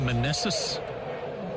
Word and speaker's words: Meneses: But that rookie Meneses, is that how you say his name?